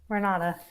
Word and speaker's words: Renata: I don't know if I'm going to pronounce this correctly, but like Renaud, Renata. Renata.